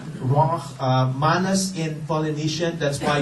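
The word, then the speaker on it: רוח: It's been called, it's prana in Sanskrit, it's chi in Chinese, it's ki in Japanese, it's ruach, I have to gargle my throat to pronounce that, ruach, manas in Polynesian, that's why we say mana from heaven.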